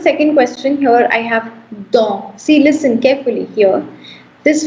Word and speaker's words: dents: So ts is silent, so don, which is for teeth, okay?